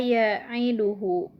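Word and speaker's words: يعيده: Nah, terus selanjutnya yaitu kata ya'iduhu. Nah, di sini yang di garis bawahinya masih dalam lafad hu. Nah, hukumnya adalah sama madsilah qasiroh. Karena huruf H bertemu dengan huruf selain hamzah. Cara membacanya panjang 2 harokat. Ya'iduhu.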